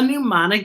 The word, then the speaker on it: mnemonic: remember why it's a mnemonic device and mnemonic sounds like we begin with m n but it begins with the letter n speaking of n n